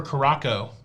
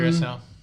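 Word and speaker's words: Curaçao: Any recommendations for Caraco? Carousel. Oh, I got to say it correctly. Curacao.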